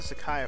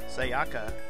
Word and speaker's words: Sayaka: should I talk to Sakaya for a while Sakaya I keep saying it I keep saying it Sayaka I need another name